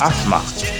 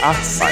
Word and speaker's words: asthma: So another word that you can be familiar with is asthma. Instead of pronouncing asthma, it's asthma, asthma, asthma, asthma.